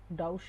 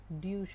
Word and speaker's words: Deutsch: डाउश नहीं होता, ड्यूश डूश होता है डूशा।